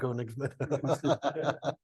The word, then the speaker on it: Koenigsmann: Did I pronounce that right in German? Mostly, yeah. Koenigsmann.